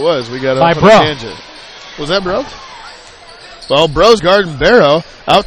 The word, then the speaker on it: Brow: I got it it's it's gross with a b or throw with a B it's anything that rhymes